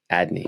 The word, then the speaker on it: Adne: It's Andy, dude. It's ANDE. No, it's ADNE. Adni.